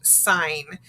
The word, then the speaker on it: sign: be at the beginning it can also be at the end but the g is silent g is silent so we learned it could be like nat or like sign so it's used at